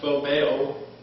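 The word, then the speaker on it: φοβέω: And the old Greek word that is pronounced phobeo, and it's translated as fear in this passage 3 different times.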